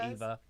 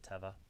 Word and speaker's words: Teva: tablets yeah good enough some people call it eva i call it teva because that's how you say it okay i'm like didn't